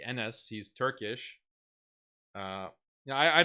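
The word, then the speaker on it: Enes: His name is NS, but it's spelled with a E. NS.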